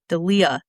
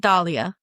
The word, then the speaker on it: Delia: And I never say her name right. I always want to call her Delila or like Delia. Delia. Not Dalia.